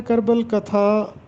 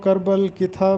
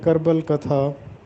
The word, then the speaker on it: کربل کتھا: Topic ہے کربل کتھا۔ اس کا درست تلفظ ہے کربل کتھا۔ اکثر لوگ اس کو کربل کتھا پڑھتے ہیں جبکہ درست تلفظ ہے کربل کتھا۔ کربل کتھا کے معنی